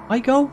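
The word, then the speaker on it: Aigul: There was a man in iGold who was asking for, what, iGold? That's how you say it, A-I-G-U-L.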